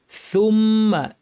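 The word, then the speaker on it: ثُمَّ: হয় খেয়াল করতে হবে সুম্মা সুম্মা বলার সময় জিহ্বার কিনারা দাঁতের শীর্ষ উপরের দাঁতের শীর্ষে লাগিয়ে দুই দাঁতের মধ্যে ফাঁকা রেখে উচ্চারণ করার চেষ্টা করতে হবে সু তাহলে উচ্চারণটা স্পষ্ট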